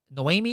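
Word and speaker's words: Noemi: catch your name so it's uh Noami is how you pronounce it but it's spelled no n o e m i don't ask me how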